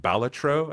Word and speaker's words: Balatro: you get Jokers uh balatro which apparently should be pronounced balatro I think is from Latin and just means like Joker or Jester and so there's 150